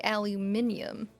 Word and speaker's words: aluminum: Well, I've heard people from England say aluminium.